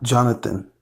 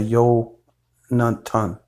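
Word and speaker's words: יונתן: So my name would be pronounced Yo Tent, not Jonathan. Translation of the Hebrew name into English, which would be Jonathan instead of Yo Natan, right?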